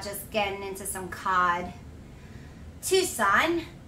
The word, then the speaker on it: Tucson: getting into some cod tucson two son c is silent okay that's what i